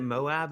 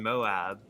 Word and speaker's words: Moab: Is it Moab? Is that how it's pronounced?